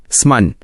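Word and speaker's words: summon: समन, स्मन, इसे समन बोलें।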